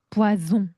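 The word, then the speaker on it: poison: 그런데이 친구가 한 끝 차이로 왼쪽 친구는 뿌아숭이고요. 오른쪽은 부아송 독국물입니다. 왜 그렇게 발음이 되냐면이 s가 모음이랑 모음 사이에 오게 되면 Z 발음으로 바뀌어요. 와송 부아송 포이슨이 돼 버리는 거죠.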